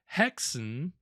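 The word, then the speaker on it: Häxan: have here on haxon so it's I believe actually pronounced hexen which would would make sense uh you know again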